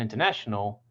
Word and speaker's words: international: For example, in international, the na syllable or third syllable is the primary stress.